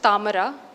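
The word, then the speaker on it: താമര: So a word like lotus in Malayalam would be pronounced tamara and would be written as ta plus ma plus ra in the script.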